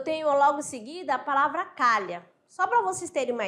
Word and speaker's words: calha: terem uma ideia aqui na palavra calha preste atenção eu tenho cinco letras eu tenho cinco ou eu tenho um C Eu tenho um a Eu tenho um l eu tenho h e tem o a novamente então tem cinco letras tá ali separadinho bem aqui separado para vocês mas o fonema eu vou ter somente quatro por quê Porque o h não tem som H não tem fonema Tá certo não tem